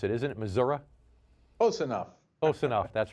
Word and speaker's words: Missouri: I believe that's the proper way to pronounce it, isn't it, Missouri? Close enough. Close enough. That's right. That's how locals pronounce it.